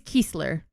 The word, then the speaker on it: Kiesler: She's Kiesler. Well, he's Kreisler. And he's So in Kreisler. German, EI and IE, you pronounce the second vowel.